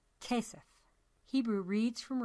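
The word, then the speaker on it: כסף: Given this knowledge, you could begin to decode the word for money on the poster, which is pronounced Kesef.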